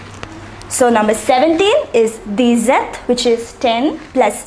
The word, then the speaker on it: dix-sept: The number 16 is pronounced as seize. Say it once again, seize. The number 17 is dix-sept.